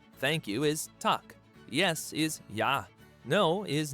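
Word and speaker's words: takk: daughter like Anderson 13 hello in Icelandic is pronounced Hollow thank you is talk yes is yah no is nay goodbye is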